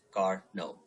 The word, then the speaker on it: Carnot: It's pronounced as Carnot.